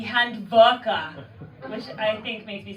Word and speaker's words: Handwerker: They call it, or Germany, they call it a hand worker, which I think makes me sound like I give hand jobs for a living. My German friend said it's because I'm mispronunciating. It should be Handwerker, which I think makes